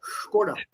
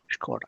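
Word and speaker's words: Škoda: It's pronounced with a sh.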